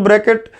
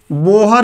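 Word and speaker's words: Bohr: बोहर या बोर जो भी बोले, रियल में बोर उसका नाम है, हिंदी में प्रोनाउंसिएशन बिगाड़ देते हैं लोग, बोहर बोलने लगते हैं।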